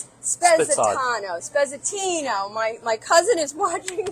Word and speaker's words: Spezzatino: We call it Spitzad, but the true Italian name is Spezzatino.